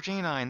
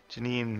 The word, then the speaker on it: Janine: And I was like, oh, I used to call her J9. That's right. That's why it sounds weird. But Janine makes a lot more sense in retrospect. I'm pretty sure that's actually what you are supposed to pronounce it as.